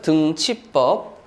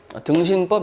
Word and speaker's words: 등치법: 자, 발음에 주의하세요. 등치법이에요. 아시겠죠? 등치법. 등신법 이러면 안 돼요.